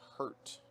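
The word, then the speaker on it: Hirt: Madison Rain Hurt. Or Madison Rain. Madison Rain Hurt, H-I-R-T. Very unique way to spell that. It's like Al Hurt, isn't it?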